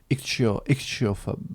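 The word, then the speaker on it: ichtyophobe: Notamment des poissons, donc tu es entre autres ichthyophobe. C'est ça. Pour le dire à la française, hein, parce qu'en anglais c'est c'est un peu bizarre avec les deux H à prononcer, mais ichthyophobe, bien.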